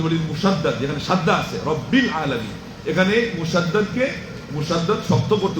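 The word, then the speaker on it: رب العالمين: আলহামদুলিল্লাহি রাব্বিল আলামিন। আপনি কি বলবেন আলহামদুলিল্লাহি রাব্বুল আলামিন এটা শুদ্ধ হবে?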